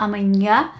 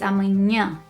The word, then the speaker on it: amanhã: So, it's not amanhã, it's amanhã comes from up here.